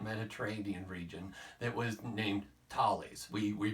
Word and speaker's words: Thales: in the ancient Mediterranean region that was named Thales. We we pronounce it Thales if you want to look it up.